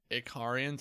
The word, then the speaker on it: Icarian: So before we jump into Alent and the Icarians or Icarians, however we decide to pronounce that, let's talk about how we leveled up this week. Oh, boy. Well, in the game, they definitely say Icarian, but as I think